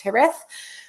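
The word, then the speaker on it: Jerez: is from the town around the town of herth which is where the name Sherry came from spelled j r e z pronounced herth manania manania and um we'll talk about why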